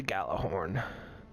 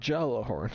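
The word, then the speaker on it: Gjallarhorn: is the Gallo the gala horn uh J is silent and uh and they are got a good Jello horn it's galahorn so basically this thing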